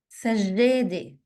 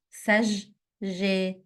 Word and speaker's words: سجادة: سجادة, double جيم. سجادة, سجادة.